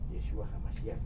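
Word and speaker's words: ישוע המשיח: Enfrentará a Cristo Jesús, a Yeshua HaMashiach, si es como se pronuncia Cristo Jesús, Yeshua HaMashiach en hebreo, como nuestro juez o como nuestro abogado defensor, ¿sí?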